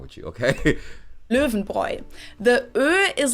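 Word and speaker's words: Löwenbräu: mentioned out of context the correct german pronunciation is le venbroi oh my god oh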